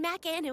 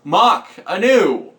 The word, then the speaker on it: Mac Anu: then we'll meet in Mac Anu at 10 Mach Anu it is pronounced mock Anu this has been consistent